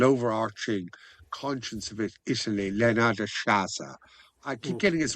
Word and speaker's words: Sciascia: a s a s c i a, it's pronounced Sciascia."